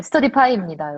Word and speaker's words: 스터디파이: 어떤 분이 나한테 스터디파이가 아니고 스터디파이라고 발음이 뭐야? 스터디파이야, 파이야? 파이죠. 먹는 파이 할 때 파이입니다.